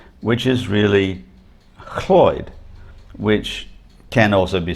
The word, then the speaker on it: Lloyd: their first or last name, which is really Cloyd, which can also be spelt Lloyd, LL at the beginning.